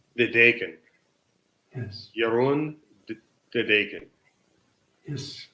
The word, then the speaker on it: De Deken: Yeah, De Deken. De Deken.